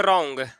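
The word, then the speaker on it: wrong: जैसे में रॉन्ग, रॉन्ग means होता है गलत। यहाँ पे देखिए डाब्लू के बाद आर आया है तो डाब्लू का उच्चारण नहीं किया जाएगा।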